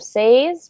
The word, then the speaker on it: says: it's sort of look it's an a but it sounds like an e says and also the ys and i'll put the pronunciation on the bots in the chat it sort of sounds like that instead of say's we say says could you try it